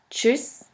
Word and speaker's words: Tschüss: The next letter combination is TSCH, TSCH, which is simply pronounced like a CH in English.